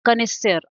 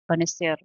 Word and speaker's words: connoisseur: I always tend to forget its pronunciation. Connoisseur, I think it's connoisseur, a critical judge of any art and craft.